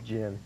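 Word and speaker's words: Djinn: How do you pronounce that? It's Jinn. Jinn? Well, the D is silent.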